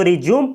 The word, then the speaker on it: resume: तो आप लोग देख सकते हैं कि ये शब्द एक ही होता है, लेकिन जब इसका यूज वर्ब के रूप में किया जाता है तो रिज्यूम पढ़ा जाता है, जबकि इसका उच्चारण